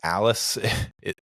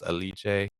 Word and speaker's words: Alice: and if if you're looking for eliche it's Alice that's what I thought it was until I listened to some interviews and heard it pronounced correctly it's alici um a i c we would have said